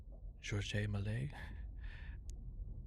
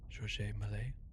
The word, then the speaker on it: Georges Méliès: Yeah, so another neat thing is that the director, well, let's say his name, well, it's French, so it's Georges Méliès. Georges Méliès.